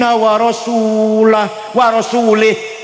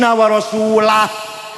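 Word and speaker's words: ورسوله: Ada orang baca Quran, innallaha bari'um minal musyrikin wa rasulih. Allah tidak melindungi orang musyrik dan Allah tidak melindungi rasulnya wa rasulih. Salah. Yang benar bacanya innallaha bari'um minal musyrikin wa rasulah.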